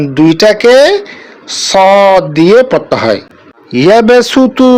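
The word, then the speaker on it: يبسط: ইয়াবসুতু বাস্ততান, এই দুটাকে সিন দিয়ে পড়তে হবে।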